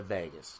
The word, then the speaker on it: vagus: state is regulated by the vagus kind of like pronounced like Las Vegas but it's the AG us if you're interested in